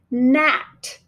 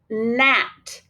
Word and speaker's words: gnat: For instance, in the word gnat, gnat. Gnat is a flying insect that kind of just irritates you. So we're going to mark our digraph by arcing it. We're going to draw a line through our G because it is silent.